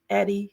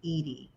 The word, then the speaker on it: Edie: I'm just delighted welcome Eddie hi nice to meet you hi Andrea it's so nice to meet you um just for clarification it's pronounced Edie Edie thank you so much